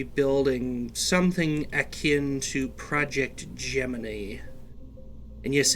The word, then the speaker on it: Gemini: And yes, it is actually pronounced Gemini. I know the actual constellation or zodiacal sign is pronounced Gemini, but in terms of NASA's 2-man space missions, it was actually Gemini.